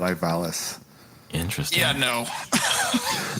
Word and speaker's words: Ivalice: that they call it Ivalis. Interesting. Yeah, no. Right? So when he said when Larry pronounced it Ivalice and I said Ivalis, he's like, "Oh wait, you're pronouncing it wrong."